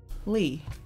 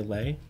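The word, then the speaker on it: Leigh: Lee. L-E-I-G-H, you pronounce that Lee? Yeah. You wouldn't say Lay?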